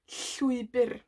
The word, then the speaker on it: llwybr: So in llwybr we have this ll sound, and this ll is made by placing your tongue as if you're going to pronounce an L, so L, but then you blow on either side of your tongue like a lateral blow.